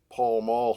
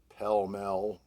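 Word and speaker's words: Pall Mall: very early age smoked palm all cigarettes or pell mel depending on how you wanted to pronounce it my mom was a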